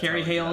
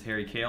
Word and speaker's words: Carrie Hale: That's Carrie Hale is back. Welcome back, Carrie. What's up, Carrie? I remember because I mispronounced it as Harry Kale last time.